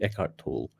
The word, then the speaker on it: Eckhart Tolle: a philosopher called eckhart tolle i hope i pronounced it right eckhart eckhart toll e-c-k-h-r-t t-o-l-l-e eckhart tolle uh it goes like this um wherever you